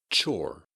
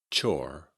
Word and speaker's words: chore: Chore, chore, chore. Like many words with an E at the end, the E in chore is silent.